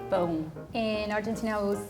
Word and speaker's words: pão: The word pão in Portuguese is one of the hardest for foreigners to pronounce. Can you say it again? Pão. Boom. Pong. Pão. Bone. It's like. It's like back here, pão. Bone. Sounds like bone. But the sound is coming from here, like.